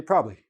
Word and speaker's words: probably: words with this situation we tend to drop one maybe two of those consonants so for example the word probably probably probably I have three syllables in this word but when I'm speaking in natural speed I say probably are you coming to